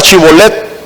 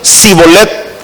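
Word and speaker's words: שִׁבֹּלֶת: Les dijeron que pronunciaban la palabra Chibolet. Y entonces ellos decían Sibolet.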